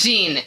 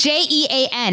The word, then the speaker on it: Jean: the jamaican in uh is it john it's jean okay yes it's john nobody says gene nobody's a gene j it's okay it's j-e-a-n that's john that's john okay billie jean or billy john okay